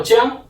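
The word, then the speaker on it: 江: And the last river is a word called jiang, means river.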